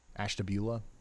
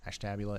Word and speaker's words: Ashtabula: Both Ashtabula, Ashtabula, it could go either way. I like personally I like the way Ashtabula sounds, but I think Ashtabula probably is the way most people say it.